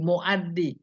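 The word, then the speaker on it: مؤدي: Bukan mu'di, mu'addi.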